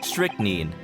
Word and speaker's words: strychnine: Strychnine. Let's see, how do you pronounce that?